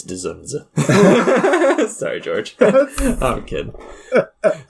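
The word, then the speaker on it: Zsasz: his name uh zunza you you don't pronounce like the D's really zza it's dunza sorry George I'm a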